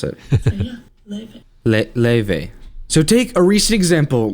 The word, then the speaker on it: Lauv: Just recently, Lauve, how do you pronounce it? Leve.